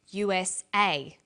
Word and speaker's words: USA: is pronounced separately but the last letter is pronounced more strongly because it carries the primary stress so we say USA ASAP ABC and TV